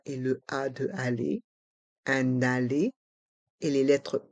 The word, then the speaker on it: aller: billet de train un aller simple un allé simple on fait la liaison avec le N de 1 et le a de aller un allé et les lettres e et R se prononcent e allz simple les lettres